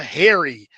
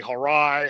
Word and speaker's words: Hari: Hari say harai. Harai, I'm assuming. I'm sure they butcher it a lot, but it is. Yeah. Yes. But as you said, it's like Harry like the like a like a man's name.